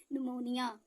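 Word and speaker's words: pneumonia: क्या हो गया साइकोलॉजी ऐसे ही पी के बाद एन आने पर कौन साइलेंट होगा पी ही साइलेंट होगा तो हम इसे क्या पढ़ना है निमोनिया ठीक है इसकी स्पेलिंग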